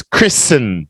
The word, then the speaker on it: Kristen: no that's not Kristen the word up here is Kristen just like listen silent T down here Christian ceremony